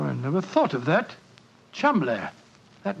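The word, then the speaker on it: Cholmondeley: that the name Cham is in no way pronounced the way it is spelled but Jo I never thought of that Cham that name spelled c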